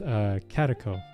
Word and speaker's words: Catako: Pronounced Catako, by the way.